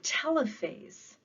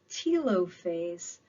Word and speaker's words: telophase: this takes us to telephase some people pronounce this tilo face but i've never used a tilo phone i've used a telephone therefore i am sticking with my pronunciation telophase occurs when the